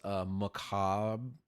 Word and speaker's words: macabre: It is macabre. I don't know if that's how you pronounce it. It's Cabre. macabre. I don't think you pronounce the bre.